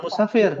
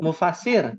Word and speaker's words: mufasir: Hati-hati cara bacanya, bukan musafir, mufasir. musafir iya. Iya. Kalau musafir orang yang berpergian. Kalau mufasir itu ahli tafsir.